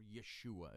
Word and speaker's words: Yeshua: Jesus means Joshua, or Yeshua, if you want to be all high and mighty and pronounce it in the Hebrew tongue.